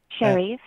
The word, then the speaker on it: Sherif: live chat asking if we have talked about Sheriff already. Is that how you pronounce his name? Sherif.